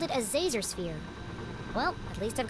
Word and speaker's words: Zazer: It's Professor Zazer, like laser with a Z. How hard is that? Zazer.